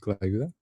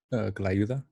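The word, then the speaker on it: tlayuda: It's pronounced clayuda. I'm sorry. Could you pronounce it again? Clayuda. Oh, clayuda.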